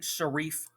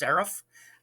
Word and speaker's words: serif: by the way um mr campbell told me it's pronounced serif i don't know i've always heard it pronounced sarif i mean i'm not saying either one's right it's one of those